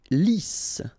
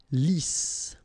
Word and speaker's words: lisse: Lisse. Double S here, so it's really a strong S. Lisse.